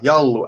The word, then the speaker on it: Jallu: So one question is, what do you prefer to drink, Yalu or Kosu? I hope I'm pronouncing it right. Yeah, Jallu and Kossu.